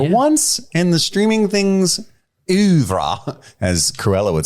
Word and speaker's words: oeuvre: For once in the Streaming Things oeuvre, as Cruella would say, we promised something.